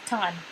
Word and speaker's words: Tan: It's Tan, that's how you say it, Tan. So say it right.